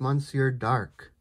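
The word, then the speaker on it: Monsieur D'Arque: the uh monsieur dark people have been telling me finally how to pronounce that that is monsieur dark uh if we uh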